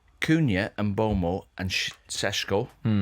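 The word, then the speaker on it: Šeško: Kuna and Bulmo and Seshko. Is that how you say it? Shesko. Yeah, they're three better players than you had.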